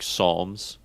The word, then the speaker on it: Psalms: Who was the dumbass that put a P in front of pterodactyl? Yeah, who's out here putting P's in front of words that don't make noise? Right. Like Psalms.